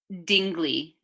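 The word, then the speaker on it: Dingli: Is it the Dingell Heritage Trail? It's actually Dingell.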